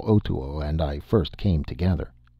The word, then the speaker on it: Otoo: Otoo, he told me his name was (pronounced o-to-o ); also, he told